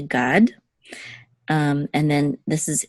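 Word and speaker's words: גָּד: on okay so this is a Gamel um with a commuts and the dollar together was a god um and then this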